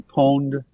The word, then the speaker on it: pwned: just keep trying but it's have I been pawned pwned is spelled p WN IDI have